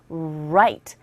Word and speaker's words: right: 그리고 right 할 때는 이 R 사운드 발음하실 때는요. 입 모양을 좀 동그랗게 하신 다음에 우 이런 식으로 그래서 right, right. 혀가 입안에서 어디에도 부딪히지 않고 닿지 않아야 되는 소리 중에 하나입니다.